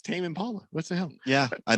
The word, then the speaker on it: Tame Impala: you say it otherwise what do people say tome um i mean it's tame impala what's the hell yeah i don't why are